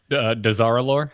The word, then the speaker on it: Dazar'alor: Dazar'alor. Dazar'alor.